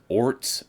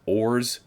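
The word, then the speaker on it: orz: No set way to pronounce it, and as such, people may pronounce it as orts, ors, or orse.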